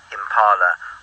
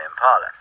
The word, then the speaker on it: impala: I think it was something like, you don't pronounce impala, impala, do you? No, you don't. You say impala, because that's how the word was said originally.